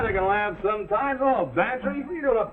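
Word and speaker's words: Bantreagh: Well, his is Bantry. Go on, spell it. Bantry. It sounds like pantry. I ain't no gambler, Mac. Well, get this for free. It sounds like pantry, but it's spelled B-A-N-T-R-E-A-G-H.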